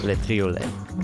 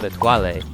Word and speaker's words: Le Triolet: Today we are climbing Le Triolet, this beautiful golden ribbon of ice right here. I spent the first half of this trip pronouncing it Le Toilet, simultaneously thinking that that couldn't be right, and obnoxiously correcting my